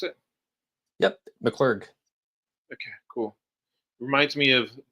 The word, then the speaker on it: McClurg: Tonight we have McClur. Is that how you pronounce it? Yep. McCclar.